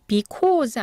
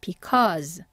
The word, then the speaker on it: because: 왜냐하면 자주 나온 단어죠 because 아니고 커 하고 입을 크게 벌리는 어로 발음해 주셔야 돼요 해볼게요 because 그 다음에 여기는 연결이에요라는